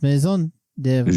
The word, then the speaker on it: Maison de Fromage: to give you the Maison de Fromage. Maison de Fromage. Maison de House of Cheese. Which is I'm from Montreal, Quebec, and it's pronounced Maison de Fromage.